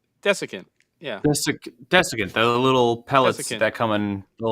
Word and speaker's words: desiccant: They have these special air dryers that I don't know how to pronounce that word. Decusant. Desiccant.